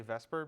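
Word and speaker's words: VSEPR: It's spelled Vesper. I'm going to say Vesper because it's way easier to say.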